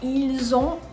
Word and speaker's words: ils ont: Next, you have ils ont or elles ont, and again, don't forget to pronounce the Z when you're speaking.